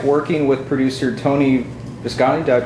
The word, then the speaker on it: Tony Visconti: What was it like working with producer Tony Visconti? Did I pronounce that correctly? Tony Visconti, Okay.